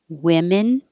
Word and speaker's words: women: get confused with woman women men man man this o sounds like uh like good and this a sounds like a woman this o sounds like e like hit which was a bad